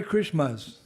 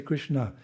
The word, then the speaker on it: Krishna: It's the Hare Krishmas. It's not Master, it's Na. Can you say it properly? Krishna. No, say Krishna. Krishna.